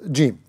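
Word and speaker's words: جيم: The precaution for the letter jim, it should not be pronounced from the back of the tongue, so it sounds similar to the letter ga, like qaf with three dots.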